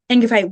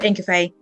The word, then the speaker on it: Ingafay: Ingafay, where can people reach out to you?